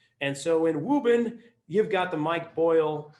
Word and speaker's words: Woburn: I grew up and the way we pronounce Woburn is Reuben and so in wobin you've got the Mike